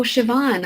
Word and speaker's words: Siobhan: in life I hope that helps Libby Oh Siobhan I saw him so sorry I didn't know that was how you pronounced your name I'm glad to know that